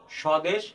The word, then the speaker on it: স্বদেশ: যে নিয়মটি সেটি হচ্ছে আদ্য ব্যঞ্জন বর্ণে ব ফলা সংযুক্ত হলে সে ব ফলার কোন উচ্চারণ হয় না যেমন ধ্বনি তক স্বদেশ স্বাগত আমরা চারটি উদাহরণের